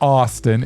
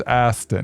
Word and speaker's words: Aston: Like as in Aston Martin. It's not Austin. It's Aston. Well, it depends on your accent. No, it doesn't. In depends on if you want to say his name right.